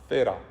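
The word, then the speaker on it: θύρα: 그 번데기 발음입니다. 테라. Come on, guys. 테라. 예. 어떤 분은 뜨라라고 표현하시는 분 계시고 원래는 테라가 맞아요.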